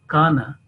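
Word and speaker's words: كان: Then again a mention here a kana. Remember it is ka is a thin letter, not ka. It be liman kana, ka, k-a-a, ka, yani very softly it should be pronounced.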